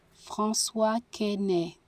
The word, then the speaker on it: François Quesnay: Pronunciation, yeah. Let's see how the fuck to say his name. François Quesnay.